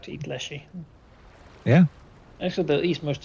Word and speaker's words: leshy: like to eat leshy. Yeah. Actually, they'll eat most of anything if they can get their hands on it. Fleshy rhymes with fleshy.